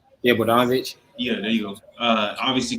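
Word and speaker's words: Bogdanović: Yeah, Bogdanovich.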